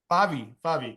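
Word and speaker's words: Favy: Favi, yeah.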